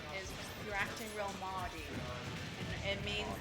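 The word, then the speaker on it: mardy: is you're acting real mauy. It means like it's spelled M A R D Y. It looks like Marty, but it means like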